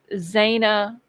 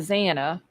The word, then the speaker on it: Xana: But it's always Zana instead of Xana, or Kernoodle instead of Kernodle.